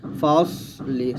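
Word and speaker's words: فصل: ফা সদ জবর ফাস, লাম জেল্লি, ফাসলি, সদ মোটো করে, ফাসলি। এখানে সদ এমনভাবে উচ্চারণ করবেন যেন পাতলা না হয়ে যায়, মানে সিনের মতো যেন না হয়ে যায়, সদ মোটা করে বলতে হবে।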